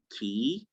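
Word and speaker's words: quay: the words unlikely words we have it in key as in q-u-a-y is transcribed like i said the same way as k e y key and then we have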